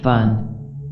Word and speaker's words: Baun: But it is equally possible that, as suggested by other scholars, it comes from the Sogdian or Iranian Central Asian word Baun, pronounced Bun, meaning the Dharma.